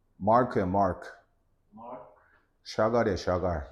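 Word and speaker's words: Marc Chagall: 마크 샤갈이야, 샤갈. 샤발 플랜티드 어디가 L자가 보여 지금? 네? 글씨가 너무 작아서 그런가? 다시 키워줄까? 다시 해봐. 맥체인 마크 샤갈.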